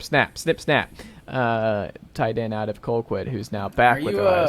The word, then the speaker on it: Colquitt: Because that is pronounced Colquitt, sir. It's Colquitt.